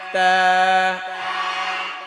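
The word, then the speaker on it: ت: উচ্চারণ হয়ে যাবে কি? বলেন বা বা তা তা জিহ্বার আগা দাঁতের গোড়া তা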